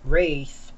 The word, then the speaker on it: Ralph: It's just wondering how it was like to work with Daniel Radcliffe and Ralph Fiennes, or as the British call him, Rafe, or I think Rafe.